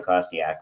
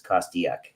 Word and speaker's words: Kostiuk: a thousand different pronunciations Jim always thought there was a an A in there so but he used to say Sean cosak but it's cosak yeah it's funny my